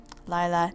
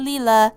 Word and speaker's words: Lila: It's Lila, right? Lila, not Leela, Lila.